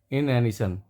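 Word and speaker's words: inanition: इसको हम प्रोनाउंस करेंगे इनएनिशन। भोजन की कमी से जो सुस्ती आती है, खाना ना मिलने की वजह से सुस्ती, वो उसको डिफाइन करता है इनएनिशन।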